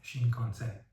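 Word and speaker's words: 新幹線: ایناری و یا این یکی کلمه درستش هست شین کانسن و یه کلمه دیگه که تلفظش شینجوکو هستش ولی یه سری کلمات دیگه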